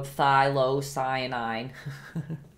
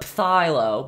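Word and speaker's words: phthalocyanine: I'm using my good old thylocyanine. I always pronounce it so wrong. I used to call it phthilo, but I heard the other day that the P is silent.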